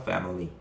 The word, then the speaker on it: family: 패밀리도요, 강세가 first syllable, 첫 1강세로요, 빼의 강세가 있습니다. 그럼 강하게 빼라고 걔를 세게 읽으라는 얘기가 아닙니다. 빼를 읽으시고요, 그 뒤에 밀리를 약하게 읽어야 되거든요. 그럼 다시 슈아 발음이 되면서 family, family, family 이런 식으로 됩니다.